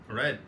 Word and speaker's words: read: Peki hocam son olarak read. Red. Red mi? Red. Öyle olursa insanlar red, kırmızı renk ile karıştırmaz mı hocam? Red, kırmızı, red okudu. İkisinin de telaffuzu aynı olur.